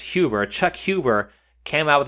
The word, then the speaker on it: Huber: Apparently, Chuck, I believe his last name is pronounced Huber, Chuck Huber came out with an affidavit, which